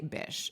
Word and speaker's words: bish: The Rich, well-paid bitch affiliate, I should say bish. It's spelled B-I-S-H.